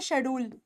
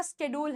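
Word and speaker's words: schedule: है क्या बोलते हैं हम बोलते हैं शेड्यूल यह हमारा शेड्यूल है नहीं हमारा शेड्यूल नहीं है वो हमारा स्केड्यूल है स्केड्यूल स्केड्यूल वैसे य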